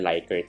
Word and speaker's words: Likert: Usually naririnig niyo sa Philippines ong tinatawag na likert scale, ano? Pero sabi sa research, leakert scale daw yung tamang pronunciation. Pero both are accepted naman.